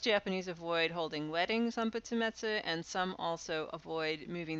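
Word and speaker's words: 仏滅: Only really one pronunciation, butsumetsu.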